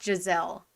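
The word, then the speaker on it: Jezaille: And also, Jezeel is pronounced as Giselle.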